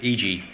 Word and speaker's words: IJYI: I am the CEO of IJYI, and yes, that is how it's pronounced.